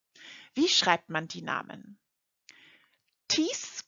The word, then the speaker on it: Thies: Wie schreibt man die Namen? Thies Köster.